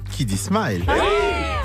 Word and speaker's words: Kiddy Smile: Kiddy Smile. Ça se prononce comme ça.